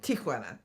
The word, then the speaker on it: Tijuana: Tijuana. Tijuana. Yep. Tijuana. Tijuana. Yeah. There's no TIA. No. Which means aunt, or Tio is uncle, tant is Tia, aunt Tia. There is no A in that first syllable.